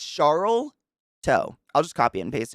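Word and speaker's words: Sharlto: It's SH, it's like Charlto. Charto. Is it literally Charto? Like Chart? It's Charlto.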